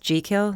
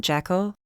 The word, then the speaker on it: Jekyll: without thinking excuse me a common misconception it's actually pronounced G kill not jackal he blinked and I